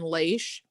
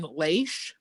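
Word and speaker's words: Laish: danites take over and burn lace or however l-a-i-s-h is pronounced yeah and rebuild danny's take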